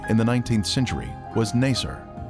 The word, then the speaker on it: Nasir: Its former name in the 19th century was Nasir. This pronunciation is similar to Nicer, a village that the Babylonian Berossus described as being near the Ark site.